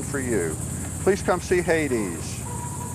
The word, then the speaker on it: Haidees: look man look at him now oh buddy Hades it's spelled h-a-i-d-e-e-s and um oh he's he's just